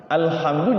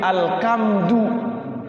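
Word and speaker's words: الحمد: Alhamdu jadi alkamdu atau alhamdu.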